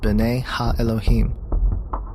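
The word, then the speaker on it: בני אלהים: of God mentioned here in the Hebrew is pronounced Bena Elohim the Septuagint which is the Greek translation of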